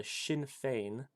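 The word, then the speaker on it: Sinn Féin: to the sign sinfine sinfine party which is pronounced the shinfane members of the revolution claim this isn't the since this game is omega Omega British.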